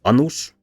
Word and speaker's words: annus: Here, annus, short a, means a crone, that is an old woman, whereas anus, with a long a, means the butthole.